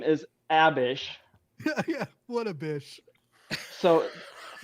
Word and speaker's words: Abish: a bish. She's a By the lovely. way, She's a pronounce- queen. She's a woman. Pronounced by Mormons as a bish.